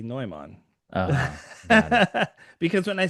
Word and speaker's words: Neumann: Is it should I give the German pronunciation? You You can. Yeah. Noman. Noman. Yes. So, I usually have people call me Newman because Newman's easier in English, but yes, Noman.